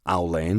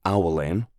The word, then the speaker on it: Owlane: She pronounced it wrong, saying Owl Lane instead of Owlane.